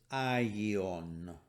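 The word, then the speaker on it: ἅγιον: e sound so it's i yeon and remember we don't pronounce the rough breathing so we don't say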